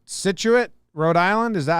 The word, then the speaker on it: Scituate: to see if i yeah that's how you pronounce it he said cool nailed it situate uh rhode island there's a scituate mass as